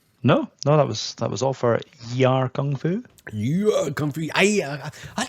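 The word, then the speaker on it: Yie Ar Kung-Fu: Yie Are Kung Fu. Aye, he misses out the Y, it's a silent Y.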